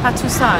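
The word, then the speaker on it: Patuxai: In Laos, what do you say? We call Patusai. Patusai. Yeah, Patusai mean Victoria. Victoria Gate. Victoria Gate. I didn't know if it was Patuchai.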